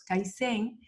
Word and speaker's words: kaizen: que nada definiendo los kaisen tiene dos sílabas skype en el idioma